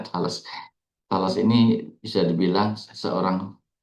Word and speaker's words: Thales: Thales ini bukan makanan dari Bogor ya, Thales. Memang bacanya Thales.